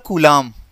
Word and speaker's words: coulomb: SI मात्रक होता है इसका कूलाम, क्या होता है, कूलाम, ठीक है, कूलाम होता है। स्पेलिंग इसकी ध्यान से देखिएगा, COULOMB, ये कूलाम।